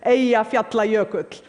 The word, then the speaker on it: Eyjafjallajökull: By the way, the pronunciation is Eyjafjallajökull. None of your media got it right.